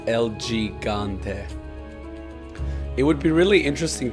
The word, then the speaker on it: El Gigante: the name is spelled El Gigante but it's pronounced L gante it would be really interesting to have like